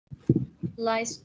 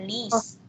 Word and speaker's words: liest: Liest du die Zeitung? Ya, die Zeitung lese ich. Apakah kamu membaca koran tersebut? Ya, aku membaca koran tersebut. Betul, tapi bacanya bukan lies ya, lis.